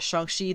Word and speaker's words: Shang-Chi: a disney investor day he said it shangxi then so i'm assuming they're going to be doing that in the movie i got to say it right uh at least gotta put in the effort to say it right at the very least so with the characters